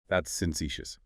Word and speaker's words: facetious: How's that one said? That's facetious. Facetious. Yeah. Stress on the second syllable.